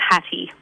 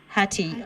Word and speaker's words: Hattie: me we were wondering how do you prefer your last name to be pronounced Hattie or hat it's Hattie Hattie okay yeah fabulous Ellie